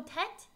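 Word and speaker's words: Tết: Oh, Tet? Shorter than four syllables, Lunar New Year.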